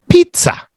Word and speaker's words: pizza: with a zed Pizza in Italian the s's sound like Zeds and the Zeds sound like TS in Italian so so that's why